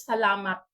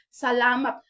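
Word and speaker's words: selamat: pagbasaan kita Pinoy isam siya pero ang ilang pronunciation is Salamat Salamat ngapo isulat Okay good ang pagsulti nila Salamat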